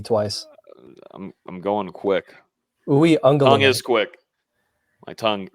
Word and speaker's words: Uiagalelei: Give us a pronunciation guide. Break it down for us. Uiagalelei. Uiagalelei.